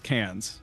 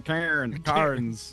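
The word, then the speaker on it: Cairns: I was in Australia there is a place like spell that way and it was cans and we Americans were like we're going to can KS and they like where cars like you mean Oh you mean cans yeah yeah who has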